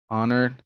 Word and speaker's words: honor: when to pronounce h the h sound is never pronounced in these words most of them came into english from french norman french to be more precise our honor heir honest vehement exhibition number two